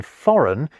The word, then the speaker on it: foreign: Although, ironically, the silent G in foreign is a homegrown invention.